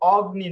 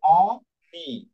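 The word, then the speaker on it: ogni: ওকে, যেরকম এখানে দেখুন উদাহরণটা অগ্নি, অগ্নি, এটা কিন্তু অগ্নি না, এই জি এর উচ্চারণ আর থাকবে না, ওকে, এর উচ্চারণ থাকবে না, এটার উচ্চারণ হয়েছে অনি, মানে এখানে নাকে একটু বেজে আসবে অনি, ওকে, আর এখানে কিন্তু নর্মাল উচ্চারণ হয়েছে নন না।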